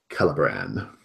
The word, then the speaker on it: Celebran: Something with a hard, like spelled with a C, but has a hard C sound. That's a classic male elven naming scheme. We shall call him Celebran.